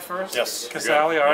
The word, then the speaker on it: Casali: All right, John Manuel with Curt Casali of Vanderbilt. Did I pronounce the name right first? Yes. Casali, all right, good.